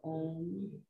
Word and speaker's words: Om: We actually pronounce it as it's spelled phonetically, which is A-U-M or A-U-M, and then the M, you close the lips together.